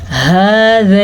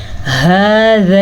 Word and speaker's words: هذا: هذا الذی، ہا کے تلفظ کا دھیان رکھیں، ذال کو نرمی سے پڑھیں، لام کو پر نہیں پڑھنا اور لام پہ رکنا بھی نہیں ہے. هذا الذی، یہ کیا ہے؟